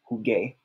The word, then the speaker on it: jugué: add the ending and change the G to a G-U so that we pronounce it as jugué.